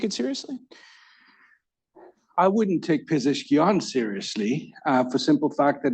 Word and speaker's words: Pezeshkian: The new Iranian president, whose last name I have a really hard time pronouncing. I had no problem with Ahmadinejad, but I have a hard time with Pezeshkian. Pezeshkian.